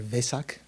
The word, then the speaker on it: Vesak: Asian countries they say Wesak, right? Or Vesak. That's kind of the Pali pronunciation. Actually, it's a V in Sanskrit, not Wei, but often they pronounce Wesak.